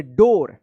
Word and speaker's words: door: इसको क्या पढ़े थे, डोर पढ़ेंगे, डोर, दूर मत पढ़िएगा, डोर पढ़ा जाएगा, SLOWLY स्लोली।